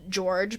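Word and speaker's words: Gyorgy: many of the witnesses were tied to it's pronounced george but it's it's spelled g-y-o-r-g-y it's like the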